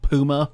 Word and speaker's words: Puma: it welcome welcome oh a stonework puma it's pronounced puma okay well my mistake i would like to